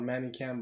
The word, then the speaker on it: ManyCam: Buy yourself the software that I said, ManyCam, which is basically it's written like, it's called ManyCam, but it's pronounced ManyCam, so MANYCAM.